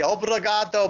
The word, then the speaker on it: Obrigado: I'm not there I'm not okay I'll say Obrigado Brazil good question did you say that right